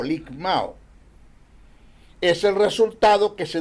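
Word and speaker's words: λικμάω: Se escribe L-I-K-M-A-O, ligmao.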